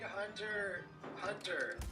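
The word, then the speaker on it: Hunter × Hunter: silent I don't know the x is silent um why do you have the X I mean if you're if you're a real if you're a real Hunter Hunter Fan then you just say hunter hunter but if you're that's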